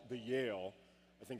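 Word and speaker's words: Yael: lead the procession, which is actually called the Yale. I think it's a very terrifying. It's called the Yale, and it's spelled Y-A-E-L.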